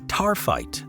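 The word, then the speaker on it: taaffeite: Now, I know it doesn't look like it's pronounced that way, but it is tarfite.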